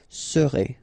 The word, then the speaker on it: serez: Vous serez, a Z together at the end, et serez, all right?